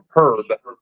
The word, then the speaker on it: Herb: Hurt or Herb? Herb.